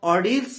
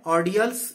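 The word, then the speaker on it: ordeals: और ऑर्डियल्स का मतलब है, ऑर्डियल्स या ऑर्डियल्स, दो अलग अलग तरह के इसके प्रोनाउंसिएशन है।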